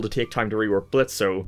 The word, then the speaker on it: Blitzo: take time to rework Blitzo. the O is silent.